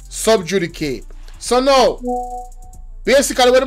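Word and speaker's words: sub judice: subj thank you so much class prefect subj sub judicate that's how it's pronounced sub judicate so now basically what the man just say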